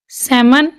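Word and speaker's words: salmon: एल, तो एल इसमें silent आएगा। काम, बाम, पाम, walk, talk, Chowk, सेमन, Fock, yoke, आमंड, should, इसको हम शुल्ड नहीं बोलेंगे, should, could, would, L silent है।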